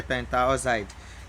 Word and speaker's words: pentoxide: So to be pentoxide. But in pronunciation, you can still say pentaoxide.